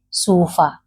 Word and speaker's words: cuba: In the Gikuyu language, we say sufa. So don't pronounce it as Cuba. No, it is sufa, which means a bottle. This, fa fa. Yes, because B in the Gikuyu language is the fa sound.